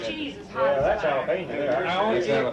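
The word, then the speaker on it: jalapeño: He said, that's not Japolina, that's jalapeno. He thought that was all funny, poor old country hillbilly.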